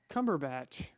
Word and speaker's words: Cumberbatch: How do you say his last name? Bacht or Bach? Cumberbatch.